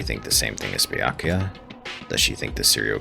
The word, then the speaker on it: Byakuya: Bakula. It's Byakuya.